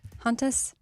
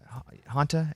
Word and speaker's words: hantavirus: Hantus? Yeah. Hanta, h a n t a. Oh, I thought there was an s.